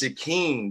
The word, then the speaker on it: Shakeene: It's Shakeene. The E is silent.